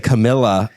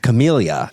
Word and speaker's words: Camellia: She would say Camilla instead of Camellia.